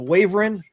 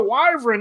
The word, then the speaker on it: wyvern: just like you know I used to call the the wyvern the wavering oh it's a wyvern not a wavering I'm saying [ __